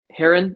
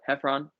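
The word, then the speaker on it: Heffron: pronouncing it or they act like they can't pronounce it a lot of people will say uh is it um heron herron heron drive ever haven't it's just like it's not that hard hephron yeah um but i suppose if you haven't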